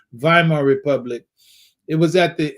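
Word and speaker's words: Weimar: how to spell it but viar you might find it spelled w y m a r Republic or maybe you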